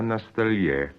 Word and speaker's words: на столе: Телефон не на диване, а на столе. Yes. Now, I have a question for you about stress. When you say на столе, on the table, you stress the last syllable, that is the ye.